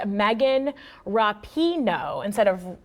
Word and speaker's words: Rapinoe: is pronounced Megan Rapinoe instead of Rapinoe?